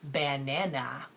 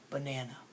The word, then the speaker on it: banana: a so technically I should be saying bad Nana but I don't I say banana does that make sense so that a in that first syllable Buck is making an ah sound and it's making an us out because it's the lazy part of the word now teachers are scientists